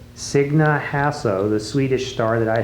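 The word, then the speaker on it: Signe Hasso: This is Dorothy Bell, and her daughter Martha co-starred with, how do you pronounce her name? Sidney Hassel. Signa Hasso, the Swedish star that I hadn't heard of until just this minute.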